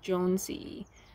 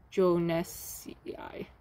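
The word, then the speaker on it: jonesii: acer aca acer ace if you find the name in the scientific name pronounce name don't break it up so this one would be jonesy not joe nesci and this last one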